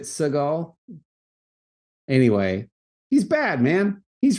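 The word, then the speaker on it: Segel: and Mackinac and Mackinaw it's spelled s-e-g-e-l hmm is it Segal anyway he's bad man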